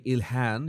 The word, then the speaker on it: Ilhan: It's Ilhan Omar. I think that's I heard that pronunciation. I think the Arabic pronunciation should be Ilhan. You have to pronounce the H.